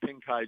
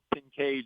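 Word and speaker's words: Pincay: and they're going to drive on Pink Eye Drive, and most of them aren't going to know why it's called that. They're going to pronounce it wrong. They're going to call it Pinkay Drive.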